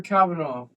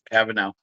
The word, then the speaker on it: Kavanagh: And tonight we're breaking down UFC Mexico, Brandon Moreno versus Loner Kavanagh. Or I believe that's how you say his name. Am I wrong? Kavanagh. Kavanagh.